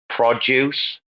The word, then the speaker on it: produce: So address and address, you know, where it's always on the noun, it's always the first syllable, but on the verb, it's always the second syllable. Produce, produce, record, record, design, How do you design.